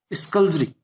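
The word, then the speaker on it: skulduggery: Okay, unambiguous के बाद स्कल्जरी, SKULD, फिर आपका U और GGERY। मैं वर्ड्स इसलिए बोल रहा हूं ताकि आप इसकी मीनिंग के साथ साथ इसके वर्डिंग को भी पकड़ें, कैसे प्रोनाउंस होता है।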